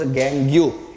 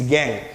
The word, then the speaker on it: gangue: Please do not pronounce as gangue. It's gangue.